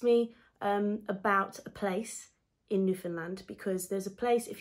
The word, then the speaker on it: Newfoundland: And then you also have to remember to say, understand Newfoundland. So it sounds like understand Newfoundland.